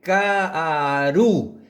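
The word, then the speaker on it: כארו: R o R y esta es una letra V corta, una Vav, que en este lugar se pronuncia U. Aquí, por supuesto, ¿no? Tenemos letras anteriores, letras posteriores. Hay Ka'aru, mis manos y mis pies.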